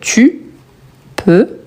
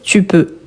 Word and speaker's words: peux: Donc tu peux, il, il, on, on aura le T à